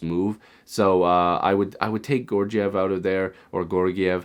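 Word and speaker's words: Georgiev: Now, here's the thing, Gorgiev, I don't know how people pronounce it, and sometimes with these names, there's multiple pronunciations. But Alexander Gorgiev, I believe that's how you say it.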